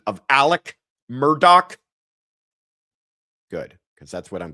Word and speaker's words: Murdaugh: All right, that is the correct pronunciation of Alec Murdoch.